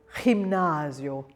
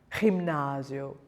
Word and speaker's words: gimnasio: The letter G is pronounced soft when it's followed by an E or an I. So we have gente, gente. It's much lighter than the J, but it's similar.